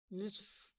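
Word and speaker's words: نصف: সাথে কোন মিল নেই এজন্য নিষ্ফ হবে নিসফ একদম শুদ্ধ শব্দ আধা বা অর্ধেক নুস হবে না নুস বাদ নুস হবে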